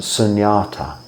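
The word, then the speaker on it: śūnyatā: a little bit wronger in the Pali the same word is s-u-n-a-t-a uh still pronounced the same sunyata because ends are like Yaz in Pali uh which translated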